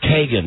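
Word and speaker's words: Keoghan: had up name wrong it's Kagan not Keegan kogan it looks like Keegan we called him we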